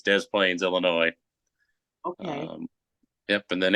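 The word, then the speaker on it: Des Plaines: how you say it I don't think it's Dain I think it's Dez Plains Illinois okay yep and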